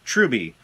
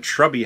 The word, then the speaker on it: Troubie: troubie hey Stuart to pronounce my name say it like this troubie I've been calling him shrubby forever now I met had